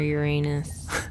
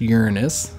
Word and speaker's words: Uranus: There's a cluster of invaders near Uranus. Not how you pronounce that, Real Jynx. Mature. It's pronounced Uranus. It's Uranus.